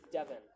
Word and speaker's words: Devin: Devin with an I. So Dev-in.